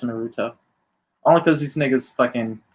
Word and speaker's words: Naruto: So with that being said, man, make sure y'all go out one last time, get that probably mispronounced like I mispronounced Naruto. I know it's Naruto.